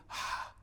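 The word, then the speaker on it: יה: Y esa palabra se pronuncia así, Ha, porque en el original no tiene vocales, solamente consonantes.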